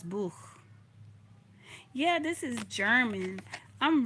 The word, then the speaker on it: Buch: Das Bush. Das Bush. Das Buch. Das Buch. I think it's pronounced Das Buch.